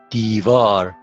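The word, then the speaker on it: دیوار: V, A, R, divar. Divar. Now again, there are two syllables, D and then var. And because it is the initial, the beginning of the syllable is pronounced V sound, okay?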